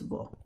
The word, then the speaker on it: वह: Now remember, although it's spelled vaha, it's pronounced vo.